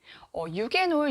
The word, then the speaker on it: 유게놀: 어떤 분은 유게놀이라고 말씀하시고, 어떤 분은 유제놀이라고 말씀하시고, 이게 외국어 발음이다 보니까, 이렇게 다르게 말씀하시는 분들이 계신데, 유게놀, 유제놀 둘 다 맞는 화학 성분의 이름이고요.